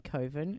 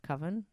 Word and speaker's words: coven: else is listening and laughing at you saying covin instead of coven oh this is 40k I can pronounce it I would like okay the Cabal